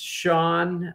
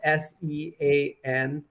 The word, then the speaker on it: Sean: It's pronounced Sean, although it's spelled S-E-A-N.